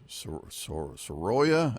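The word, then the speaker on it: Soraya: r a y a so you say s but I think a lot of people will put the emphasis on the middle and say Sara makes sense instead of s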